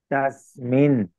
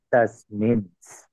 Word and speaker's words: तस्मिन्: Therefore, we have to pronounce the root word tasmin and not as tasmins.